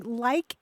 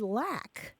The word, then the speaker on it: lack: pronunciation of the word lack. How much do you lack? How much more do you have to go? L-A-C-K, lack. L-A-C-K, but it's pronounced in the South and South Midlands often as like.